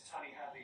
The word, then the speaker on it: Tony Hadley: To his surprise, Tony Hadley not only responded, but sent a video confirming that his pronunciation was correct. Hi, Mohammed Shanahan. This is Tony Hadley here from the UK.